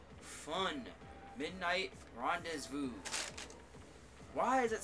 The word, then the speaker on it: rendezvous: Which sounds like Ren does vows.